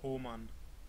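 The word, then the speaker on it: Hohmann: It's actually pronounced Homan.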